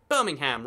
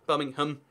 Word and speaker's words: Birmingham: No, we just don't say the A. Birmingham. Just skip that A sound. We don't need it anyway. It's just slowing us down.